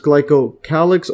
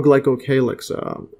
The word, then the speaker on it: glycocalyx: Yeah, so I believe it's pronounced glycocalyx or glycocalyx, either or.